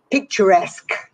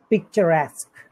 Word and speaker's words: picturesque: the english language uh it's pronounced like the french word any ideas no picturesque picturesque it's very common we